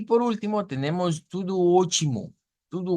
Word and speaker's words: ótimo: Aquí tenemos algo interesante y es que la, la T, la T, hemos dicho que la T se convierte en el portugués a una especie de CH. Entonces, la transliteración nos pone directamente una CH, vea, como ochi.